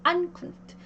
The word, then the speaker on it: Ankunft: 이 명사는요. 이 분리 전철이 강세를 갖듯이 얘도 똑같이 강세를 가져요. Ankunft. 그래서 요 뒤에 우 뒤에 자음이 3개나 있으므로 얘는 짧은 우로 발음을 해줍니다.